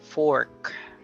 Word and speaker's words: fork: work worker okay but except for the word fork f o r k is really o Fork then we have C